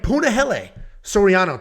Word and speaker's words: Punahele Soriano: Then we have Punahele Soriano taking on Dustin Stoltzfus. Punahele Soriano, fluid striker. Punahele Soriano, that is how you say it, is a very fluid striker.